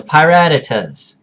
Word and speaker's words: Pirattatas: Not the Pirattatas, not the Pirattatas, pie, like you eat, ratatas, Pirattatas, the Pirattatas. Okay, if I hear another coach or another analyst, I'm looking at you, Tom and Danza.